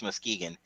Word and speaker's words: Muskegon: that's how you pronounce that, Muskegon? Yep, Muskegon, I Michigan.